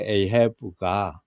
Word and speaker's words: Ahab: the Old Testament, King Ahab, the English pronunciation of King Ahab is called Ehav And that Ehav is,